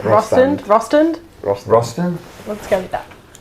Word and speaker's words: Rostand: Is that how you say it? R-O and then stand? Yeah. Yeah, Rostand.